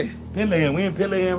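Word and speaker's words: Pèlerin: Pelerin.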